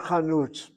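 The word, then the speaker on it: חנות: The word chanut I forgot it, but I couldn't understand more. is spelled with a medium kamatz underneath the chet.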